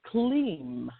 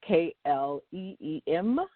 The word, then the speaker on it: Kleem: You want to chant the mantra Kleem. I've given this mantra out before for those who are seeking love or to attract love. The mantra is K-L-E-E-M or K-L-I-M.